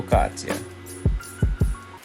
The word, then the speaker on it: focaccia: before I forget focaccia apparently I wasn't pronouncing it right it's pronounced for foh-cat-chia I hope you guys